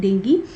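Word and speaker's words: dengue: ठीक है, इट is pronounced as डेंगी।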